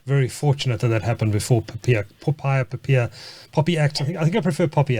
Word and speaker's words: POPIA: Yeah, I think the regulators actually gone to great trouble to ask us to pronounce it Popia, but I'm actually right there with you. I can't get Poppy out of my head,